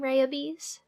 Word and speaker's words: Rayabees: on words names, like my name, Rayabees, because it sounds like rabies.